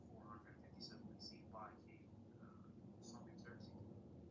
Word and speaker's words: Xerxes: Then you have the decree to rebuild the city, Jerusalem, and that's given in 457 BC by King something Xerxes. It's pronounced. Xerxes.